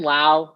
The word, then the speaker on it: Lowe: know one of them one of them brandon so brandon lau is loud and i'm pretty sure